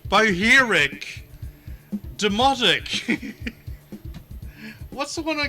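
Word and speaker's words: Bohairic: Interior Design in Coptic, Sahidic, Boharak. Sorry, I pronounced that wrong. Boheric, Demotic.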